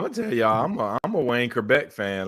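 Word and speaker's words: Wayne Chrebet: Wayne Kerbeck. Am I pronouncing his name?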